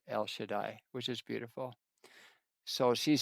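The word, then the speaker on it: El Shaddai: And in Hebrew that is pronounced El Shadai, which is beautiful.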